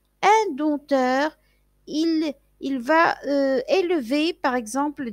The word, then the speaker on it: dompteur: Dompteur, dompteur, vous voyez, je ne prononce pas le P, un dompteur, Il va élever, par exemple, des animaux sauvages et il va les faire jouer dans des cirques.